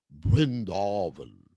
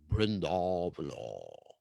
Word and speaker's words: Vrindavan: It's Bengalicized Vira, just like Prabhupada would pronounce Vrindavan as Brindavan, Brindavan. So there's a B instead of a V when you're in Bengal. Like Brindavan. That was how Prabhupada pronounced Vrindavan.